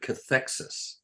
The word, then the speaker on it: cathexis: CATHEXIS, cathexis.